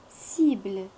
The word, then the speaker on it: cible: أمثلة cible. C'est avec I, ça prononce si. B avec L, bl. Cible. La cime.